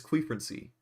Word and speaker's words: quefrency: And no, you got to say que. Come on, it's quefrency. That's how it's spelled.